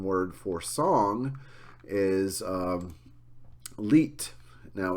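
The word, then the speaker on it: Lied: pronounced leit um cuz sometimes in German when you end the word on a D sound it gets more of like a DT or t sound uh leader is the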